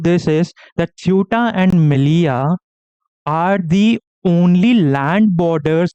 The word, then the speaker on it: Melilla: Not Melilla, it's Melilla. This also I checked.